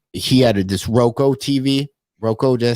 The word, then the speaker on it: Roku: Roku, did I say it right? Roku?